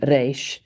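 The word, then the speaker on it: resh: Today, most Israeli Jews pronounce re as a approximate, which is also used in Yiddish. The aviola rotic is still used in some formal speech such as the radio. Um and it sounds it says that the classical pronunciation of Hebrew re was a flat R which is why I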